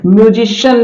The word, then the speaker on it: MUSICIAN: देखिए सी के बाद में यहां क्या आ रहा है? IA आ रहा है, इसलिए इसका उच्चारण हो जाएगा श। जैसे म्यूजिशियन इसको पढ़ेंगे, क्या पढ़ेंगे?